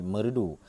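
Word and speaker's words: Meureudu: japakeh pada tahun 1620 dua kata yakni merah Danu pengucapannya lama-kelamaan berubah menjadi merudu nama yang sekarang menjadi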